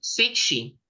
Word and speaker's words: Cixi: Emperatriz, reina, Sichi, o cómo lo pronunciaste, Sichi o Sichi. Emperatriz Cixi.